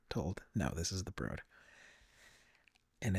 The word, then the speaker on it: The Broad: the street is the Broad and I was mispronouncing. I was calling it the broad but I was very quickly told no this is the broad and it's just an amazing amazing art gallery